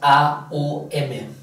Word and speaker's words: om: el vale luego Ah el om se pronuncia om pero en realidad es a u m Lo que pasa que